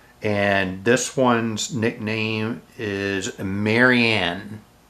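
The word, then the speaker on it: Marienne: And this one's nickname is Marianne. So that's spelled M-A-R-I-E-N-N-E. Not Marianne, Marianne. Alright? But also not Marion, which would be spelled M-A-R-I-O-N.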